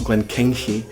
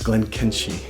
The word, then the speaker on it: Glenkinchie: It's not Glenkinchie or Glenkinchie, it's Glenkinchie.